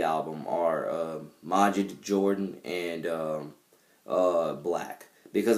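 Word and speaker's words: 6LACK: though his name is spelled six lakh you pronounce it black but um yeah my - R&B influences for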